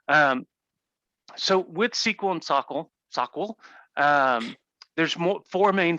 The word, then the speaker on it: SOQL: soccer and do you i pronounce it sockle you pronounce it sockwill i i would defer to your pronunciation i i've heard both i know people that say sockle to me like sequel where i pronounce the q so sock will i pronounce the q there as well gotcha but i i